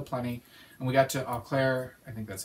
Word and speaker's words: Eau Claire: And we got to Eau Claire, I think that's how you say it, Eau Claire, Wisconsin, and we spent the night there and got up this morning.